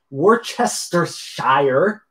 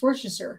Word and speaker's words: Worcestershire: It's good with Worcestershire. I think I'm saying that right. It's Worcestershire. Worcestershire? You don't say Shire. You say Worcestershire.